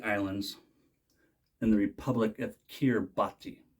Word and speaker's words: Kiribati: and the Republic of kirbhati and again that's how we say it in English on kirbati they speak